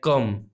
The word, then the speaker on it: comb: तो जब भी M के आगे B आता है तो B को हम प्रोनाउंस नहीं करते हैं, B साइलेंट रहता है, ये पढ़ा जाता है कम।